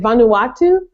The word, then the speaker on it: Vanuatu: in the Peace Corps in I I can't pronounce it is it Vanuatu correct um which is a country off the